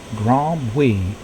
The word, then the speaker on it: Grand Bruit: The French would pronounce it Grand Bruit, which means big noise.